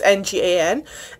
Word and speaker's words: Ngan: I'm not sure how to say it it's ngan and like that's what the cover looks like